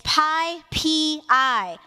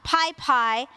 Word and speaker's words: PyPI: It is PyPI, not PyPI, one pi, not two pies.